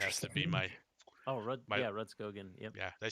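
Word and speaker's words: Rudskogen: Oh, Ridskogen.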